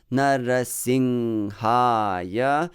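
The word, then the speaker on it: Nṛsiṁhāya: Nara, both are light, short syllables, but then sing is a heavy one, ha, another heavy one, and ya is a light one.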